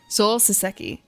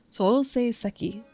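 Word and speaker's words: Souseiseki: Soul Seseki and Sui Seiseki. Okay, so I missed a syllable. Blech. Soul Seiseki.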